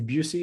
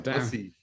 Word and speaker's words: Bussy: from MasterBrews as Busey. Is that how you say it? No, wrong. It is Bussy.